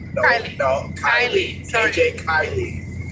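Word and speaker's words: Kiely: It's just how it read how it reads, but it's not how it's pronounced. His name is K I E L Y. Kylie.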